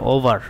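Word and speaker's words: o'er: অপর পৃষ্ঠায় লেখা আছে এন্ড দেখো ও এইযে এই যে ক্ষমা দেয়া এপস্ট্রপি ইয়ার এটার পূর্ণরূপ হচ্ছে ওভার। উচ্চারণটা হবে ওভার।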